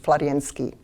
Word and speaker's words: Florensky: but in case of florensky i will use florensky because it's my habit but in in russian right pronunciation is pavel alexandrovich florianski vladimir salavio is considered the most important philosopher